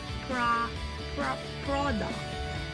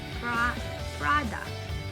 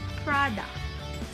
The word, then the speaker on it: product: They say product. Product, they say. Which should be product. So the letter O should not be pronounced. It's like a letter A. A sound. Product.